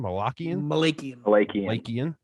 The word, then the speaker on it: Malakian: Malakian.